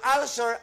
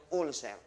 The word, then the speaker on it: ulcer: acidity at ulcer ang ulcer ay ang pagkaskas o pagkabutas ng bituka due to high acid ang tamang pronunciation po non ulcer pero sa Pilipinas ang tawag niyo ulser Sabihin niyo nga po